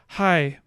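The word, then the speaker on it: kai: bidai then B says hi spelled k-a-i but pronounced with an H sound that is not elsewhere in this language hi which means something like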